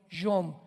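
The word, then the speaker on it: יום: Postreros es arit, así como suena con ch se pronuncia ait, a charit y tiempos o días son yom y o m de mamá.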